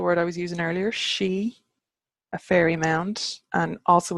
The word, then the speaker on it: sidhe: far as I know this this si th e is the modern version of that so she in Broga Newgrange sleeve